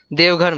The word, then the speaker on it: Deoghar: How do you pronounce it? Deoghar, ma'am.